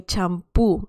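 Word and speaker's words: champú: can see that um we pretty much borrowed the word shampoo and we added an accent mark to the letter u and obviously the pronunciation is a bit different okay so i really like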